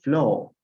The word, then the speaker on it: floor: Pero en este caso, flow. Aquí no se pronuncia la R. Si ven a la R al final, en el inglés británico.